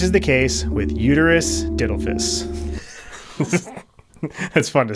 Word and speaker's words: uterus didelphys: This is the case with Uterus Didelphys. That's fun to say, right? That's not how you say it. How do you say it? Didelphys, maybe?